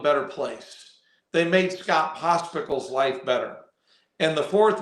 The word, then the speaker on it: Pospichal: Here's how you say it. Say pickle and put pos in front of pickle. Pospichal.